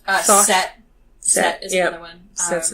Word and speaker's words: Thoth: I don't know how to pronounce his name. I think it's Thoth. Thoth.